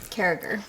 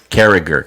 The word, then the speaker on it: Carriger: we also have how do you say your last name character carriger see i was saying character sure everyone says so